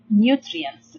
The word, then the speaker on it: nutrients: So nutrients we can divide this word into 3 syllables. We have n, then we have u. Here you make the long sound for the vowel u as its name u. So it's n, u, new.